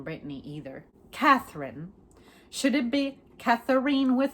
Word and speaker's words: Catherine: I like to say Catherine. Like, I like to accentuate the middle. Most people say Catherine. I like to say Catherine. Even if it sounds ridiculous, but I like to acknowledge the syllables.